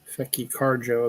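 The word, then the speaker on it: Tchéky Karyo: Um, Fecky Carjo is what they're actually saying his name is pronounced as.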